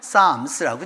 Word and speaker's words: Psalms: P를 안 읽어 PS가 있으면 안 읽고서 Psalms라고 읽게 되는 거죠.